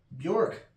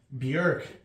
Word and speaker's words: Björk: Or Björk is, I believe, the way you pronounce it, but I hate that. And I don't feel like I should have to say people's names correctly. I feel like I should go with whatever sounds the most phonetically pleasing.